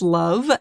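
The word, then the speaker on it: LOVB: Yeah, we aim to be a little bit different at Love or League One volleyball pronounced love.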